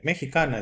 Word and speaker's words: Mexicana: The picture I'm showing right now is Mexicana, is the correct pronunciation in Spanish.